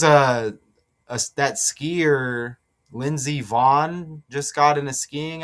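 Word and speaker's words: Vonn: There's a a that skier Lindsay Vaughn just got in a skiing accident. I got that decode coming up. Van rhymes with Dawn.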